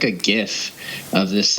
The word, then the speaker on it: GIF: you here yes okay you just said gif and your graphics design expert please do not tell me you pronounce it as jiff no no the podcast